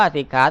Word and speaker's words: สิกขา: นะ ด้วย อธิ จิตต สิกขา อ่าน ว่า สิ ขา ตั้ง หลาย ติด โสปิ